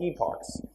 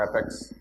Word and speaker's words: epochs: it's going through multiple what's called epochs or epics depends on wherever you're pronouncing it from right but that means